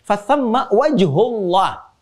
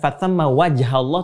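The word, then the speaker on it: فثم وجه الله: Fathamma wajhullah. Lihat cara bacanya. Perhatikan betul cara baca, lihat harakatnya. Bukan fathamma wajhallah, tapi fathamma wajhullah.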